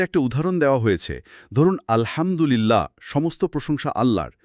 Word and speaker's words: আলহামদুলিল্লাহ: প্রতিলিপিতে একটা উদাহরণ দেওয়া হয়েছে, ধরুন আলহামদুলিল্লাহ, সমস্ত প্রশংসা আল্লাহর, বলতে গিয়ে যদি হায়ের জায়গায় গলার নরম হা দিয়ে আলহামদু পড়া হয়, তাহলে অর্থ হয়ে যেতে পারে সমস্ত নিন্দা আল্লাহর, নাউযুবিল্লাহ।